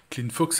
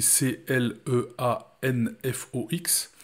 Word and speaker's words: Cleanfox: technique mais c'est l'utilisation d'un outil comme clean cleanfox ça s'écrit C l e a n F O x c'est un service gratuit qui va scanner votre